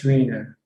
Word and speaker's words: Schweiner: Okay, so you look at the second syllable. Which one comes second, then that's the one that you pronounce. Like if the E comes after the I, you say E, that's Schweiner. Yes. If the I comes after the E, then you say the I, like Einstein.